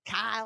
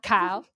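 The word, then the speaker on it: Chaol: throw that in there ky ky I've been saying K is sort of pronounced like chaos with an l so if that helps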